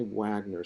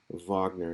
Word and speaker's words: Wagner: Uh this is his name is pronounced with a V because he is German and in German the W's are pronounced as V. So don't say Wagner, say Vagner.